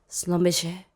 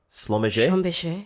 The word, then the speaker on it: Schlumberger: Schlumberger. Schlumberger? Schlumberger. Is that how In you French, pronounce this?